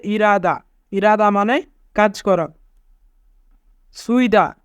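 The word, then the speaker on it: 일하다: ইরাদা, ইরাদা মানে কাজ করা। এখানে রিউল বাচ্চিমের পরে হিউত থাকার কারণে রিউল বাচ্চিমটি হিউতের স্থানে যাবে, তাই উচ্চারণ হবে ইরাদা।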